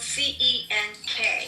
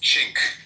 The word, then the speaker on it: Cenk: It's spelled C-E-N-K. Right, but in Turkish it's pronounced Cenk.